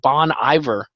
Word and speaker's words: Bon Iver: Bon Iver you know because they spell it b o n space i v ER but like it's really French so I'm an idiot and I was saying it wrong for all these years what's that it means